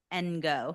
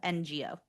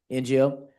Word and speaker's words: Ngo: My name is Ngo. Nio, that's how you pronounce it.